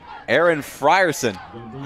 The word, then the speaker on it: Aaron Frierson: Aaron Frierson Aaron Frierson I believe that's how you correctly pronounce his name.